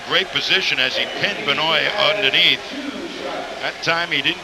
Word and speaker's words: Benoit: Benoit. That's the way David wants it, so that's the way we'll pronounce it. Benoit.